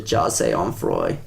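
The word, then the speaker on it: Jahseh Onfroy: There's just some freaking like 12-year-old or not like 14-year-old dude just like how you pronounce it is Jasse Onfroy.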